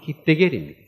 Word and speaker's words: 히데겔: 요 티그리스강은 영어식 발음인데 이것이 히브리식 발음으로는 히데겔입니다.